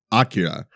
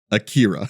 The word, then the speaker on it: Akira: Which is this movie's title is pronounced Akira. It is not Akira.